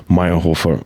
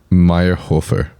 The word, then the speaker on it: Mayrhofer: Amica I would say mayor Hofer or mayor Hofer usually I say mayor Hofer cuz that's how you would pronounce it in English how do you say